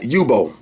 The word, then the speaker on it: Yubo: Alright, Yubo. That's how you pronounce it.